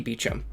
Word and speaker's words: Beauchamp: her introduction to Zaki Beacham and I know I'm actually pronouncing that right this time because Stein was kind enough to include a pronunciation guide Zaki is kind of